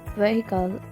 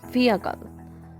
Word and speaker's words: vehicle: It is not vehicle, it's vehicle. Let's do it together. It's akal, akal, vehicle, not vehicle. We do not go with the spelling of the word.